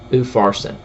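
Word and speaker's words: Upharsin: mine mene t kel ufarsen now that's my end uh uh to the best of my ability the way that it should be pronounced mine t kell oofarson two mayonnaise a tkel and a ufarsen uh verse 26.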